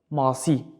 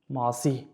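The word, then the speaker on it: masî: Masi. Masi. Do you notice? Two long vowels at the same time. Masi.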